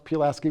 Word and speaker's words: Pulaski: city and pulaski county and i've learned to pronounce pulaski that's very i think i've got it okay